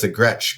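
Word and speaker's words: Gretsch: s c H and that's where it goes the Gretch because if it was G T CH then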